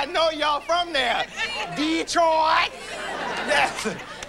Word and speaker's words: Detroit: Detroit. Yes. It's not Detroit when you're from there. It's Detroit. Yes.